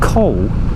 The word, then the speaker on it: col: language training here the coal is basically a pass there you go I think I mentioned it I couldn't remember how to pronounce it but it's coal like cold dealer flipping poorly that's